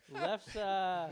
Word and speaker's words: lefse: Lefsa? Lefsa! Norwegian crepe dish? Yes? Okay, good. Lefsa!